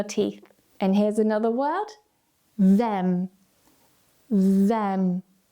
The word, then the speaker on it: them: Make sure that you're just sliding your tongue forward.